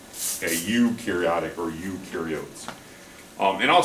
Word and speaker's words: eukaryotic: true and it's pronounced e u is pronounced you a eukaryotic or eukaryotes um and